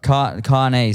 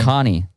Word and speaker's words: Caoirne: Caoirne. So but you can do like a car and knee. So it's like Caoirne, like Okay.